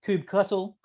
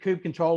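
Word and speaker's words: kubectl: command line tool um Cube CTL um cuttle um I've heard that Cube control is the wrong way to say it which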